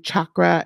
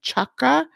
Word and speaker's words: chakra: you notice I'm pronouncing chakra as chakra because it's the C is like a CH as in church right so it's not